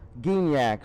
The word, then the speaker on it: Geniak: i would say geniak g is in green that isn't gin so a hard g so geniak so nigel i'll go